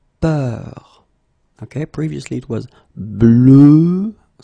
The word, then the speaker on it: peur: the same, but it's a bit lighter, more open, and it's peur. Okay, previously it was bleu, so really, really deep, bleu. This one is more open and it's peur, okay, peur.